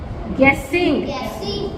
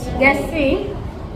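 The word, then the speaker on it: guessing: गेसिंग. इसमें you silent side sound कर रहा है ना. गेसिंग.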